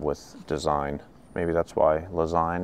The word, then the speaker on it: Lezyne: design maybe that's why lazy rhymes with design never thought of that